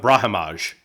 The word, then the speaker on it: Brahimaj: SoDo Pete Rodriguez um Ram brahaj mhm or brah brahimaj I believe is the pronunciation that's right and then Nico price